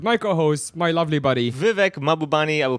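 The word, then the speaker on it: Vivek Mahbubani: Vivek Mabubani. I will pronounce it myself because you guys can't do it right every time.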